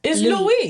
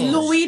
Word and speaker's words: Louis: People be calling him Louis, but it's Louis. I put some respect on it. It's Louis, just like it's Pierre, just like it's Jean-Baptiste, just like it's Jean-François, just like it's Pétion, just like it's Claude. Say it right.